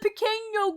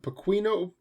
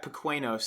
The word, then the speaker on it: Pequeno: I read it, like I would read it the way it's pronounced. Like it's not that bad. But people look at it and they're like, I don't know. Pequeno, jalapeno. And it's and like I've actually said it out loud to people, and they'll still repeat it back, Pequenos, and I'm like, you have to know that's not how that's pronounced.